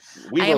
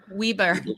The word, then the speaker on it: Weber: Weber, like wibbly wobbly people. Weber.